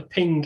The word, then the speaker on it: PNG: Ambitions was to support the Ping image format or PNG I don't know how people prefer to pronounce it I prefer ping um so this is